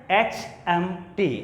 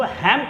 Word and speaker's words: HMT: अब अंतर कुछ नज़र आ रहा होगा कि HMT को हमने लेटर वाइज उच्चारण किया, HMT, हम इनको हैम्ट नहीं कह सकते।